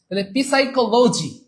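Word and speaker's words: psychology: সামনের দিকে যাই যাইোক সাইকোলজি সাইকোলজি সাইকোলজি শুরুতে একটা পি থাকে বুঝতে পেরেছেন এইটা উচ্চারণ হবে না আবার সাইকোলজি সাইকোলজিং ইনফরমেটি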